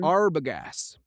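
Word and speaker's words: Arbogast: Arbagas. Arbest. Arbagas.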